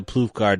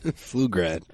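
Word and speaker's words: Pflugrad: Flugrad. What did I say? You said ploof. You pronounced it That was with the P.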